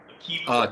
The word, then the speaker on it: AKiVA: AKiVA. AKiVa. That's AKI with a VA.